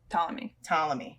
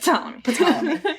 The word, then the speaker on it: Ptolemy: Ptolemy. but with a P. The P is silent. Ptolemy.